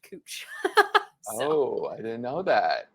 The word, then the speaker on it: Couch: And then I remembered that there's a street in Portland spelled like your last name, but pronounced Cooch.